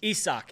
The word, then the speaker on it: Isaac: Isak, yep. I always confuse it because the spelling does not match the pronunciation at all.